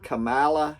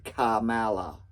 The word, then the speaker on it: Kamala: I think that might be what was then the vice president of the United States, Camala Harris. Yeah, I say her name like that because it starts with a K. Kamala.